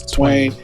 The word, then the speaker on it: Twain: it and then actually my stage name is twain but twine works because my my first name is and my family called me twine but my stage name is twain that's what all the music yeah on the